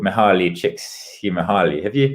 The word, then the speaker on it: Csikszentmihalyi: And one of the ideas and thinkers I look at in Waypoints is a guy called Mihaly Csikszentmihalyi. Have you? Csikszentmihalyi, yeah, it's really hard. I was going to pronounce it wrong, and you pronounce it right.